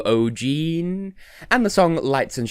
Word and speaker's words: O'G3NE: and their sister, and there's 3 of them and they have the same genes, so O'G3NE.